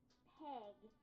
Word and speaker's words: Peg: Peg. It's not pig, by the way. It's peg. Peg, as in egg, is a red hen. This time it's a short E sound.